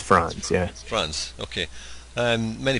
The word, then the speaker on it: Franz: uh France France is that how you pronounce it France or France uh it's France yeah France okay um many people have seen